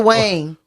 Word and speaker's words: Dwayne: It's like two syllables Dwayne.